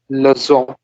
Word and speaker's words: leçon: Abhishek, how would you pronounce this? La leçon. Leçon, S. It's more Leçon. like S. Okay.